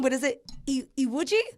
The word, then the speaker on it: Iwuji: Sorry if I say your last name wrong, but is it Iwuji? Iwuji.